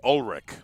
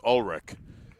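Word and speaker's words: Ullrich: Lennox Olrich out of Plant City. Actually, Olrich, that's what we'll go with. U L L R I C H. Evidently pronounced Olrich out of Plant City, not very far from Tampa.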